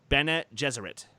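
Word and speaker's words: Bene Gesserit: order called the can we should get the pronunciation right here Bennett Jesuit so again super-powered nuns who are telepathic and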